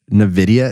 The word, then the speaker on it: NVIDIA: Then NVIDIA, is that how you say it?